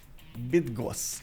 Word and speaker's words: Bydgoszcz: Bydgoszcz. Okay, so you don't actually pronounce the seconds.